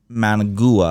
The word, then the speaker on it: Managua: gonna have to go Way Way South to Managua I think is what it's pronounced and then over this pass over to